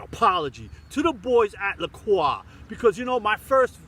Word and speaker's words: Lacroix: Croix the choir or the pleurer you know I learned how to say it right dummy so here it goes guys lacroix all right writing my